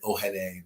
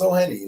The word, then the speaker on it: Ohene: They pronounce my name like Ohene, but like it's Ohene.